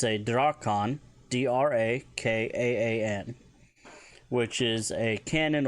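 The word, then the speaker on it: drakaan: If you want to talk about a cannon, it's a Drakan, D-R-A-K-A-A-N, which is a cannon or heavy gun referring to ship's weaponry.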